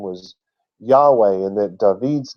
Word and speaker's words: Yahweh: Because their W in the German language made the V sound. So they were pronouncing it Yahweh because they knew that's how it was supposed to be pronounced.